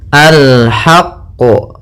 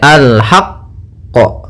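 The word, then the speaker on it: الحق: tapi tidak sampai sakta jangan sampai alhaqqo gitu ya atau tambahan qo gitu ya ya alhaqqu ya Alhaq ya tidak alhaqq gitu ya tapi dia bacanya alhaqq Ya alhaqq ya kita tekan qnya baru kita pantulkanyaa pada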